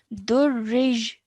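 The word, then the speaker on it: دري: Okay, so because of the shadda on top of the ya, we have to join the ra to the ya. So that's why the y sound at the end comes.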